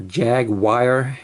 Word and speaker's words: Jaguar: red version of this jag or jag wire as the americans say or at least some americans cool and then on